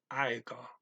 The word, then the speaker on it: aika: Now, sometimes I'm trying to enunciate these, make them clear for you, but anytime you pronounce a word in Finnish, if you do it right, you put the emphasis on the first syllable always.